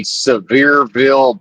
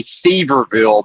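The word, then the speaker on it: Sevierville: Anyway, here's the Severeville Bies. It looks like it would be Sverville, but I can assure you it's Severeville, even though it's spelled Sver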